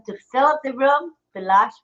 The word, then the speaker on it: Bilash: Bilash Roy. It's spelled R-A-Y, but he pronounces it Roy.